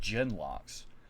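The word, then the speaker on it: genlocks: and slaughtered the carter like genmos oh it's pronounced gen locks i i honestly was thinking it was gen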